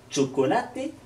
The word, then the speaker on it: chocolate: Lorsque vous rencontrerez un CH, c'est comme si vous mettiez un T avant. Chocolate, chofer.